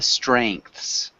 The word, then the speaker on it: strengths: in plural strength improvements it's a strengths strengths and the last s sounds like z or is it sounds